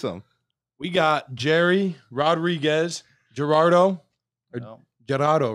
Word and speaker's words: Jerardo: Gerardo. See, that's not. With an H, too. Yeah. Is how he's pronouncing it. Yeah. It's not how it's spelled, but.